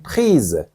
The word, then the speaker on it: prise: prix il faut dire prise parce que c'est féminin donc vous ajoutez un e à la fin de prix et s est prononcé comme Z donc vous dites je vous